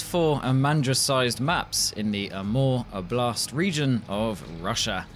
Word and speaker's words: Amur: Yes, Phase 4 has four Amandra-sized maps in the Amur Oblast region of Russia. Apparently you pronounce the Amur bit like the word for love in French, and to be honest, if you love snow, these maps will do you proud.